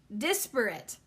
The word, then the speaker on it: disparate: Disparate. Disparate. Oh, great. There's two friggin' ways, but I definitely was, it's dis, not des.